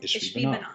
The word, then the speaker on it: Ishbi-Benob: And honestly, I had to Google it to make sure I was pronouncing it right. What is it? Ishbi-Benob? Ishbi-Benob.